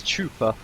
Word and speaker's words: Chupa: Nicely done by Chopper there. I keep pronouncing it wrong. It's Chupa. 2 O's there, boys.